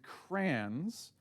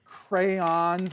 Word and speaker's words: crayon: I see crayon as in cranberry. Crayon is in cranberry, but it's got that Y in it, crayon, you know?